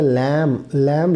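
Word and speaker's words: lamb: अच्छा, लैम लफ्ज़, हर वो लफ्ज़ जो बी पे ख़त्म हो और उससे पहले एम हो, वो जो बी है वो साइलेंट होगा।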